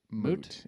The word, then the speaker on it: moot: have the example yeah moot or mute moot it's a moot point I just is that spelled the same as mute no m o o t What moot I swear to God I thought it was m still no it's m o is a word moot yep wow play